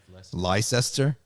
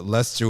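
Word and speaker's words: Leicester: Southwest Last Summer okay like Esther you pronounced it wrong I pronounced it as I saw it innocent right like Esther lyce Esther no it can't be Lester why they have e i c no it doesn't make any sense that would be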